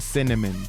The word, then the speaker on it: CNMN: traits and names like peppermint macaron and cnmn pronounced cinnamon the very next thing you'll notice about Hi-Fi